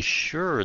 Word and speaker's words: sure: Nó lọc là sh âm s là chữ she vậy đó. Sure vậy đó.